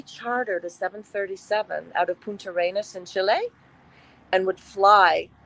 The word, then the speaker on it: Punta Arenas: Now, say the town again, because I want to pronounce it properly. Punta Arenas, Chile.